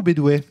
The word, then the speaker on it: Bédouet: Est-ce qu'on dit Bedouet ou Bédouet ? On dit Bédouet. On dit Bédouet. Ou Bedouet, enfin, tu peux dire comme tu veux en fait. Mais toi, tu dis comment ? Moi, je prononce rarement mon propre nom de si, je dis Bédouet, t'as raison.